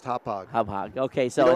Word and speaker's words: Hauppauge: Pronounced Hauppauge.